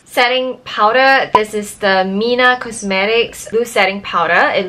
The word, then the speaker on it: Mina: 3i and a by actually is pronounce Mina because I have been saying 3 inna but like when I